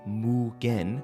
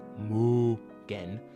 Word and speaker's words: MUGEN: Muggan, also known as Mugan, uh, pron pronounced Mugen, like Mugen, whatever, is a freeear 2D fighting game engine developed by Electite.